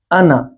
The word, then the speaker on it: أنا: Normally alif in ana, normally alif in ana, یہ جو الف ہے یہ سائلنٹ ہے. This alif is silent. Normally if alif follows a fatha, the fatha will be stretched. But however, the alif in the word ana will be silent.